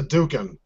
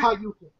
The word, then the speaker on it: Hadouken: That's a Dukin. It's Hayukin. Say it correctly.